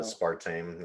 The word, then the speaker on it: aspartame: How do you pronounce it? I never know. Aspartame, yeah.